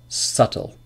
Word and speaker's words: subtle: yes rule number 2 B is usually not pronounced before T at the end of a root word for example debt doubt subtle subtle doesn't example yep